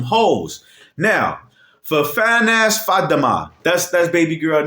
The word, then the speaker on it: Fatima: But you know it's Arabic, so you pronounce it Fatima.